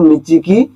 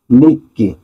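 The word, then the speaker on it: 日記: তাছাড়া এখানে নিচির কাঞ্জি আছে এবং কির কাঞ্জি আছে, দুটো একসাথে বললে হবে নিচিকি, কিন্তু নিচিকি উত্তর হয় না, এটার উচ্চারণ হয় সঠিক অর্থ নিক্কি।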